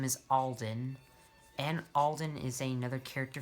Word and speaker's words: Alden: And this engine's name is Alden. And Alden is another character from Genty and Friends. With an E or an I? It's spelled A-L-D-E-N, Alden.